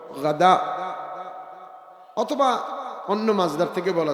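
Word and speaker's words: غداء: খায় না এজন্য ফুতুর দুপুরের খানাকে বলে গাদা গাইন দাল আলিফ হামজা আবার কেউ গাধা গয়েন গাধার সাথে শব্দ উচ্চারণে শুনতে একরকম শোনা যায় কিন্তু আসলে শব্দটা হল গাদা অথবা অন্য মাজদার থেকে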